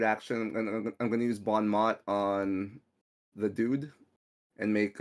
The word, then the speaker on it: bon mot: in French you meant you have to say Bon Mo in French all right um so